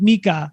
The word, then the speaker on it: Micah: So, I mean, obviously you worked with Micah.